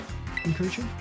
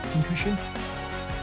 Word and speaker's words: Pincurchin: Pincurchin? Pincurchin? Is that how you say it? Pincushion? Pincushion? I'm gonna say pincushion. Yeah. I know it's pincurchin, but that just doesn't sound like something my mouth wants to say, actually, so I'm gonna call him pincushion.